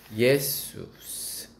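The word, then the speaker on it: Ἰησοῦς: 예수스. 헬라어로 예수 한글로 예수라는 단어가 헬라어로 발음이 예수스입니다.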